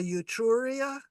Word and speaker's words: Etruria: So she's probably on either the Etruria, that's how that's pronounced, or the Gallia.